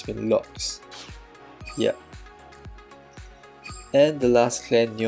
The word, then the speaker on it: Lox: I can without the Noxes, but I really wish I had the Noxes. Or is it Lox? Oh, I've been saying it wrong, it's been Lox.